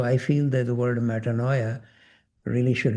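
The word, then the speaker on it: metanoia: original meaning of repentance is metaninoia. Is that how you pronounce it?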